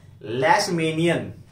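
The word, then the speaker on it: Leishmania: को बोल देते हैं लेशमेनियन या लीशमेनियन। वैसे इसका जो एग्जैक्ट प्रोनाउंसिएशन देखा जाए तो लीशमेनिया बोलते हैं इसे, या लीश।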